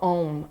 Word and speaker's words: Om: The sound of Om. A-O-M. About 7 counts per syllable.